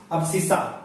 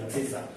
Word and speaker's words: abscissa: X coordinate को क्या बोला जाता है, अब्सिस्सा। इसके स्पेलिंग भी याद कर लीजिए, ABSCISSA, अब्सिस्सा।